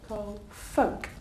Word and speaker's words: folk: you pronounce this word the L is silent about Olivia folk do you know folks